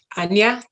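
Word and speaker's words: ajna: time um with my my brow chakra or um anya as they pronounce it in sanskrit because that's where your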